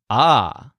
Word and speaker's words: ha: And the lizard's word is ah, spelled H-A. Remember that the H's are silent here.